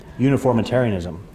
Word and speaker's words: uniformitarianism: Uniformitarianism. And you got to pronounce that right, because you don't want to go around saying unitarianism. That's a whole different thing, right?